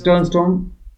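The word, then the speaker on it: Stjernström: देखो Stern Storm इसकी pronunciation है Stern Storm. Stern Storm यानी कि जो वहां पे ब्लैक स्मिथ था उसका नाम है.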